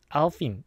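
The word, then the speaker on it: Alpine: 여기서 뭐 알피느 알파인 알레피느 뭐 어떻게 읽느냐 여기에 대해서 드라이버들이 직접 알핀이라고 읽는다고 찍은 영상이 있습니다. 유튜브에 가서 보시면 될 거 같고 프랑스 바람으로 알핀 이거 스펠링대로 영어로 읽으면 알파인이기는 한데 근데 심지어 이제 르노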